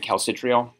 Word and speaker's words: calcitriol: I pronounce it calcitriol.